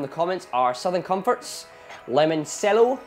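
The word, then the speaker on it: limoncello: comments are Southern Comforts lemon cello or lemon cello as it's meant to be pronounced some orange juice some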